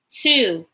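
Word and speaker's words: two: Now the W is silent, okay? So you're really gonna hear the O sound. So T-W-O, 2.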